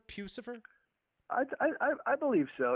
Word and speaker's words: Puscifer: uh pews for obviously and am i i'm pronouncing it correct right pucifer pucifer i i i believe so you know i